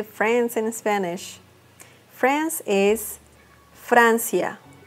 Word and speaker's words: Francia: do you say friends in Spanish France is Francia Francia United Kingdom or the UK the name of